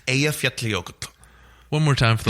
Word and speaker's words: Eyjafjallajökull: from all over the world desperately trying to pronounce it, but it's Eyjafjallajökull. One more time for the listeners. Eyjafjallajökull.